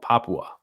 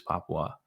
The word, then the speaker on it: Papua: I believe that province is called Papua. Indonesia's Papua. I used to think it was just Papua New Guinea, but you do pronounce the U in there.